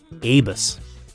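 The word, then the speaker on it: Abus: But how do you pronounce it? A bus? A bus? A bus? Yes, it is actually a bus.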